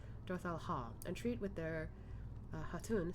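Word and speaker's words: Dotharl Khaa: Let us go to Dorthal Ka and treat with their Hatun. I keep forgetting the K isn't pronounced. Dorthal Ha, and treat with their Hatun Sadu.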